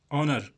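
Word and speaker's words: honour: ऑनर, यहाँ पर H silent है, हम ओ से शुरू करेंगे।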